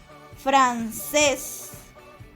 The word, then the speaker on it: francés: Francés, francés, está tildada en la última sílaba, entonces es aguda.